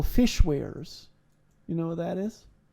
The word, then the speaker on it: weir: what you call fish wares. You know what that is? Okay, like fish wares, like fishing goods? No, it's spelled WEIRS, so a ware. A wire? No.